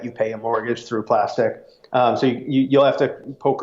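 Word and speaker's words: Plastiq: a service called plastic it looks like it's spelled plastic because it's a cue at the end but it's actually plastic little trivia and what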